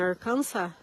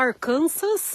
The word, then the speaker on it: Arkansas: Apesar que dizem que aqui em Arkansas, a gente fala Arkansas, mas na verdade se pronuncia Arkansas, sem o S. Nessa maneira, como se fosse Arkansas, com o ênfase no último A.